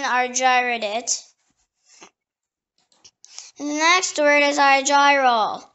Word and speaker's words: Argyrol: The next word is argyrol. It can also be pronounced argyrol.